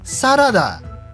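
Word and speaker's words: サラダ: Like, there is no consistency because they have saladozu for salads, even though they have the rough correct pronunciation sarada.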